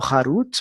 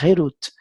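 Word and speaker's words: חֵרוּת: Não pronuncie entalhado Harut, mas sim liberdade, Herut, para mostrar que eles estão livres do anjo da morte.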